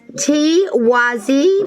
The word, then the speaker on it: Tiwaz: It's pronounced Tiwazi, which means divinity or sun.